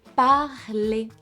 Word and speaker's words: parlez: We keep this base, this root here, P-A-R-L, and we add the specific ending for vous, that is, yep, easy, perfect, that we pronounce et. Ok, excellent, très bien. So for vous, vous parlez.